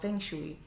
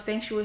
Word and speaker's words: feng shui: Okay, I actually incorporate colors because I learned about feng shui.